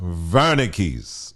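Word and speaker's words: Wernicke's: So it's actually pronounced vernicks. Vernicks. That's the German way of saying it.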